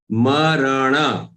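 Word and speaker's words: मरण: Jara marana. Remember marana. They are all full letters. None of them, you should not pronounce any of them as half.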